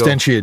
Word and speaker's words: Absentia: Now No, it's Absentia DX. Absentia DX. Now I'm going to have to go look it up. That's Absentia, ABS. ENTIA. We're not even saying it right. It's Absentia. Absentia.